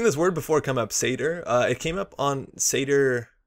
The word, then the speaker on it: Seidr: It's actually pronounced Seidr, not cider or any other way.